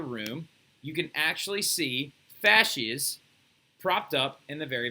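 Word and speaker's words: fasces: there is called a fascist right f-a-s-c-e-s f-a-c wait f-a-s-c-e-s right a fascist right you will hear me say faces all the time because i've been mispronouncing it for years apparently but the fascist is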